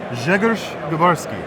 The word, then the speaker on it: Grzegorz Grabarski: All right, now we are here with, I'm going to pronounce it correctly, Grzegorz Grabarski, Yes, sir.